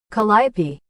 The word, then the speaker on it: Calliope: Pronunciation. Calliope.